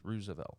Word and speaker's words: Roosevelt: I believe it's pronounced Roosevelt.